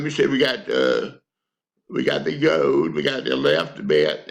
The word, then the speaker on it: yod: Now, we come to one called Yod, Y-O-D, right here. It's the 10th letter of the alphabet, the Hebrew alphabet. It's spelled Y-O-D, and the Y is pronounced like the Y in yes.